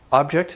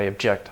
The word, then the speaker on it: object: part of our language we're nouns have stressed like object and verbs have a stress like object it's like subject subject